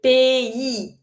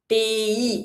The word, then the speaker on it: pays: If you want to pronounce it correctly, just say pays, pays. And you have to pronounce the E sound.